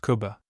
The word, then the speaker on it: Cuba: history of this city, known to most Cubans as Cuba, pronounced Kuba.